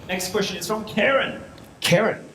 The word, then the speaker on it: Karen: Karen? Yes. Rhymes with Marin.